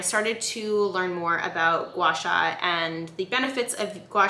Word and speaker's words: gua sha: So Gua Sha, which is obviously pronounced Gua Sha, is spelled G-U-A S-H-A, and it is from